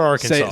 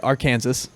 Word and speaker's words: Arkansas: Say it right. Arkansas. Right, which is why we have to be worried about getting stuck there because Tim doesn't know how to say it. Look at how it's spelled. It's Arkansas.